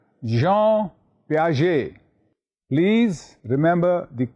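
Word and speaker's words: Jean Piaget: his name name was recollect yes that's right Jean P please remember the correct pronunciation Jean j e a n as you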